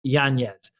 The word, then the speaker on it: Yanez: He said his name is traditionally pronounced Yanez, but because of the spelling Yanez, people at school and all the rest, he's called him Yanez, and he's like, whatever, I don't care.